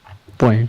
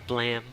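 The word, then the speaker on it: Blame!: It's supposed to be like a pun with blame, but it's supposed to be like Blam, like the gunshot or something.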